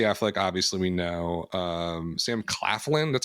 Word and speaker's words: Claflin: Sam Claflin, that's how you say his name, right? I guess. Yes, Claflin.